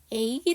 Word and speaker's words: ache: "ache" 라는 단어 에서 'h' 는 묵음 입니다 . 그렇지 않으면 'ch' 가 합쳐져 'ts' 소리 가 납니다 . 그러면 ' 치 ' 소리 가 나겠죠 .